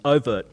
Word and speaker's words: oVirt: Is that how you pronounce it? oVirt and Aeolus, yeah.